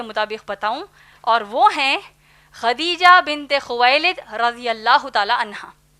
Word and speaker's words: خدیجہ: ہم عام طور پر ان کو ختیجہ کہتے ہیں، دراصل نام ہے خدیجہ جس کے ہجے ہیں خا